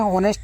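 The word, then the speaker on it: honest: इसको पढ़ते हैं ऑनेस्ट। यहां पर एच साइलेंट है।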